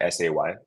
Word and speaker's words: SEI: say so it's pronounced say uh like you can think of the English word s-a-y like he is saying something um so you can